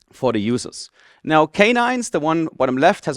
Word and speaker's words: k9s: So this is k9s, or k9s, as it is properly pronounced.